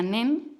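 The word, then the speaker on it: 念: cómo se escribe meditación en japonés, que se pronuncia nen, y este carácter está formado por dos partes, la parte superior y la parte inferior.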